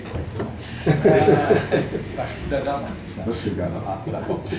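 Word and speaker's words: Vasco da Gama: que tu veux me reprendre, il faut le prononcer correctement. Vasco de Gama, c'est ça.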